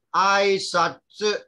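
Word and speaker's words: あいさつ: Bukan su, bukan su. Satsu. Lidahnya berada di belakang gigi di hadapan. Okey, lidahnya perlu berada di belakang gigi di hadapan itu. Aisatsu. Aisatsu.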